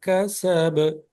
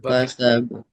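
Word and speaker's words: كسب: হচ্ছে যখন পড়তেছিলেন মালুহুমা কাসাব কাসাব কলকালা হবে আর কাসাব কাসাব কাসাব হ্যাঁ এইভাবে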